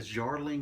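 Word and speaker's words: Darjeeling: The Jarling Limited, I believe, is how it's pronounced.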